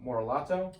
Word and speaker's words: Morellato: So Michela Morellato, Thank you so much for coming on the podcast.